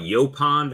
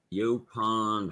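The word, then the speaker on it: yaupon: before you see it you pond holly oh it's spelled it's spelled differently it's y-a-u-p-o-n tritone said they got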